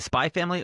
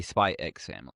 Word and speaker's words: Spy x Family: Is it spy family or do I say spy X family? Uh, I think it's it's the English thing where the X is silent.